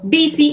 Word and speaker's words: busy: Okay, busy is a synonym of occupied. Es un sinónimo de ocupado. La pronunciación de esta U en la palabra busy suena como una I.